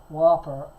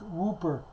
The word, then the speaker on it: Whooper: It's not Whopper. It's Whooper. A play on the word looper because Elba pronounces his L's.